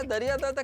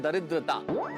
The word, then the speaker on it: दरिद्रता: दरियादाता क्या बोला? अरे नहीं नहीं दरियादाता नहीं। इस शब्द का उच्चारण है दरिद्रता।